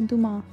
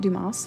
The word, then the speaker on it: Dumas: he is French and the French really like not pronouncing all the letters and words um so Duma I think is the appropriate pronunciation this is actually my